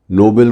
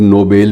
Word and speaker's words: नोबेल: नोबेल को कुछ लोग नोबेल भी बोल लेते हैं, उच्चारण अलग अलग है। कुछ लोग नोबेल के नाम से भी इसका उच्चारण करते हैं,